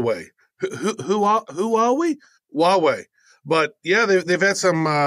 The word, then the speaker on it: Huawei: Travis write both yourself and myself have been ko Elle's for huawei I always have a hard time pronouncing it the Chinese tech giant did I pronounce it right Huawei you did Huawei you know it's funny as